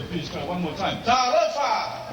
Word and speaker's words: Talofa: Talofa! Talofa!